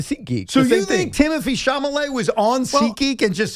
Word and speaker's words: Chalamet: You said Chalamet. Whatever. Chalamet.